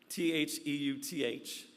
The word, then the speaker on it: Theuth: Um and in it Theuth t h e u t h Theuth you understand I'm not mispronouncing Zeus.